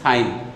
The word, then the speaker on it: sine: আমাদের বইতে একটু বড় করে লেখা আছে SINE, সাইন, ইটা উচ্চারণ না করলেও চলবে।